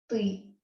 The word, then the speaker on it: ты: So these you that you would use it with a friend is ты. Ты. Sound is a bit difficult.